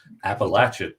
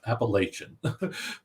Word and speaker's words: Appalachian: He does make a point of explaining the proper pronunciation. Appalachian, not Appalachian.